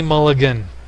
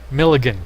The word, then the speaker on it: Milligan: and it's time for Johnny Mulligan Milligan Johnny Milligan I'm sorry mrs. Milligan pronounced your great grandfather's name incorrectly there he is John